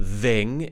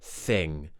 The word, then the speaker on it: thing: this word is thing it's the unvoiced th so we're not using our vocal chords it's not thing it's th thing thing and that sound at the end make sure you release it gently so don't say thing